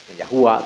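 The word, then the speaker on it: ياهو: Yahua tapi dibacanya yahu. Yahu yahu.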